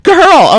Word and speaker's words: Kaherl: Did I say it right? Kaherl. Kaherl. Oh my goodness, it's a hard one.